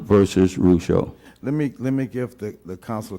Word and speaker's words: Rougeau: It's Ardoin versus Rougeau. Ardoin versus Rougeau.